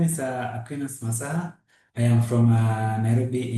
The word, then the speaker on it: Aquinas: Aquinus.